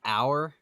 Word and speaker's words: hour: But like, do you say in hour? It's spelled with an H.